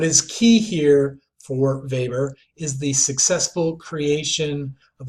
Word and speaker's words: Weber: below this now for Weber and again it's pronounced Weber but it looks like Weber that's a major Fulp on sociology so don't make it it's Weber in German for Weber who I would consider